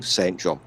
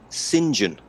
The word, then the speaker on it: St John: a weird British thing but you don't pronounce it like that you pronounce it singen huh well I take